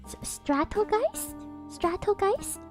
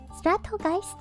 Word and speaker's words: Stratogeist: But, Stratogeist, as I believe her name? Like strategy, but then Geist like ghost in German.